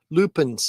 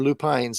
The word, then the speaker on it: lupine: mosses uh and uh Lupin or lupines however you pronounce it Lupine it's Lupine or Lupin beautiful flowers my mom always